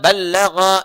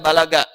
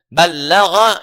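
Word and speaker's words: بَلَّغَ: Kalau disebutkan mubaligh ini nomor satu dari kata ballagha yuballighu ya ballag dibacanya bukan bahasa Sunda balaga ya ballagha yuballigh sesuatu yang menyampaikan dengan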